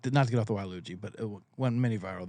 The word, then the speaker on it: Waluigi: Waluigi. He's like the backwards Luigi, like the evil Luigi, I think is what he's Waluigi. Waluigi, yeah, like Wario and Waluigi.